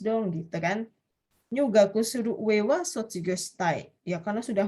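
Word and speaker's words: 上: Tetapi kalau yang diperhatikan ya minasang ya, kalau yang ini bacanya satunya uewa, yang no ue dewa ini, kalau yang uewa yang ini bacanya apa minasang? Jo atau ue ini di sini? Di sini bacanya apa? Yang di keempat itu? Bacanya? Jo, di sini. Jowa. Tetapi N, minasang tolong perhatikan ya, ini penting ya. Supaya tidak bingung, Desne. Ini kanjinya sama-sama ue, sama-sama jo.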